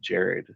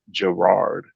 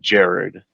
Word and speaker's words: Gerard: it's his name's actually pronounced Jared, but Yeah. we always do the hard R at the second vowel, so everybody in America calls him Gerard, Yeah. right? Instead of Jared, But anyways, he was